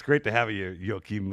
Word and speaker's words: Joachim: So I wanted to say Joachim, right? Nobody's not pronounced the J? No, that's fine. Joachim is fine. Joachim. The moment you don't tell me Joaquin.